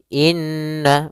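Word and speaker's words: إنّ: Maka cara membacanya itu kita menahan suara nunnya. Suara nunnya kita tahan dulu baru dibaca. Jangan langsung innalladzi tapi tahan dulu dua ketukan. Innalladzi inna.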